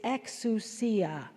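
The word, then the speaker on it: ἐξουσία: The word for authority, the ordinary word for authority in Greek is exusia ex ui a exusia.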